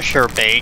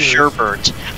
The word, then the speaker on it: sherbet: like sherpa is pronounced it's actually sure bait because there's no extra r that everyone just adds for some reason or bae mr babe people call it sherbert because if you call